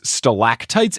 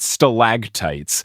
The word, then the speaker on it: stalactites: written out before but i could have sworn there was a g in there and not a ct you're making me open